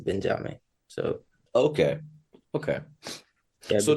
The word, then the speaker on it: Benjame: So my name is Benjame, which is basically Benjamin, but mine is written phonetically as Benjame.